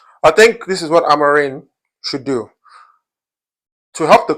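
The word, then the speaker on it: Amorim: It's actually pronounced with an N, not an M. I don't know why I keep saying Amaren. So the reason why Amarin uh uh is asking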